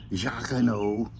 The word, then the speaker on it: Jocono: Jocono.